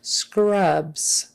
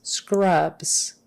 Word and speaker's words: scrubs: continue scrubs um scrubs that final s is pronounced with a z scrubs scrubs make sure you get